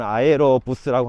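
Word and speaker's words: Aerobus: 아에로, 이 동네 발음은 아에로 부스라고 합니다.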